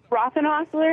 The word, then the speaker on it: Rothenhausler: let me just uh make sure am I pronouncing your last name correctly it's aozi rocken Hustler yeah it is I mean I've heard it a couple different ways but yeah it's all me so Roth and hler all right so uh congratulations on for a